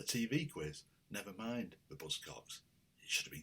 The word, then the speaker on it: Buzzcocks: I'd realised had been getting the name wrong for 40 years. I talk of Buzzcocks. I wasn't the only one, by any means, to always insist on calling them the Buzzcocks, but it's just Buzzcocks.